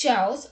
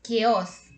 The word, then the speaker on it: chaos: in it and so they think it's chows or cheers but let me tell you that you're mistaken because it's not chows or cheers it's chaos so what is chaos chaos